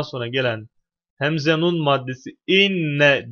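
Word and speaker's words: إنّ: gelen Hemze nun maddesi inne diye okunuyor inne Enne değil yani Enne mi inne mi nasıl okunur konumuz bununla alakalı tabibu Evet inne burada yani Hemze esreli okunuyor Gale maddesinden sonra geldiği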